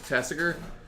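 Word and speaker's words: Tasigur: Because apparently it's pronounced like Massacre, but with a T. So Yes, it's Tassiger.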